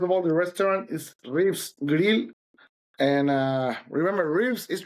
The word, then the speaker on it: RIVS: was a problem because phonetically it's Rivs.